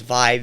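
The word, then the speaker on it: VÆB: The band is Vibe, V-A-E together, B. It's pronounced Vibe.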